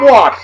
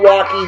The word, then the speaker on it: Walke: Now, our man Tom Walk, that's not Walkie, not Walker, the E is silent.